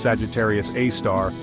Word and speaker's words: Sagittarius A*: The strong radio emissions emanating from the galactic center, particularly from the compact, bright region known as Sagittarius A*, pronounced Sagittarius A star, are produced by a variety of highly energetic astrophysical processes.